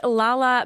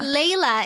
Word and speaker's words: Lala: proudest moment I'm here in the studio with Lala Baker from Philippines welcome to the show and